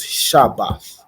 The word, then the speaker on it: Shabath: so it's Sabbath and in the Hebrew is shabath right okay and then another word I want